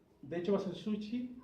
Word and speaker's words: sushi: sushi, o sushi, o realmente se dice, no con ch, como decimos nosotros. ¿Sabían eso? Que el sushi se pronuncia sushi. La SH japonesa es como Chile, así como ¿sí? Así se pronuncia. No es ch como Chile, Chile no, sushi.